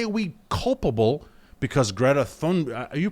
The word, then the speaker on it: Thunberg: Thunberg? Yeah, I think the H is silent. Is it? I'm pretty sure it's Thunberg.